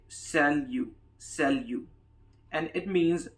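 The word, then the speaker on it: salut: third one is an informal one it is pronounced as sell you he is silent at the end and we say sell you sell you and it means hi this is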